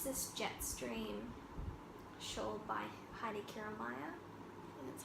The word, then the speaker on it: Heidi Kiermaier: And it's this Jetstream shawl by Heidi Kiermaier.